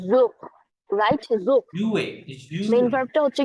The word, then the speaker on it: jouer: দেন পরেরটা হচ্ছে কি যোগ রাইট যোগ jouer মেইন ভার্বটা হচ্ছে কি উচ্চারণ হবে Jouer.